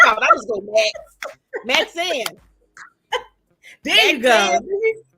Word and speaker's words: Maxayn: Maxayn. There you go. Maxayn. You did it. Yes. There you go. I be trying to add extra syllables.